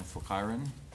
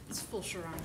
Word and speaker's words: Fulcherons: Fulkiren. Hello. I don't think I pronounced your name right, but it's Fulcherons.